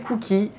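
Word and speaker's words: Kouki: Et donc elle s'appelle Cookie. Et ça s'écrit K-O-U-K-I, donc c'est pas du tout les cookies comme les biscuits. C'est en fait cookie, c'est un nom en japonais.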